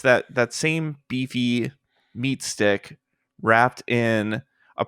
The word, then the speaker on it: BiFi: It's spelled BiFi, like Wi-Fi.